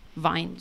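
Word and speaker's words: Vine: Zum einen, also an einem Review-Programm teilzunehmen, wie zum Beispiel Amazon Wine oder Wine, Wine, so wird es ausgeschrieben, ne?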